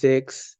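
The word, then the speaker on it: sechs: সিক্স বা ছয় যেটাকে আমরা ডেস এ বলবো জেক্স এস এর উচ্চারণ আমরা আলফাবেটে পড়ছি যে এস থাকলে এস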